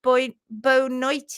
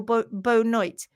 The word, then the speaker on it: boa noite: Yes, bonsoir in Portuguese, pronounced boa noite. Did I get that right? Boa noite. Noite or boa noite, which sounds like good night, doesn't it?